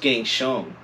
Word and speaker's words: Keng Zhang: So my name is pronounced Keng Zhang. Hey. But I'm used to Keng Zhang too.